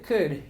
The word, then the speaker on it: could: En este caso, al verbo modal could no se le pronuncia la L. La L es una letra muda, así que pasamos directamente del sonido de k.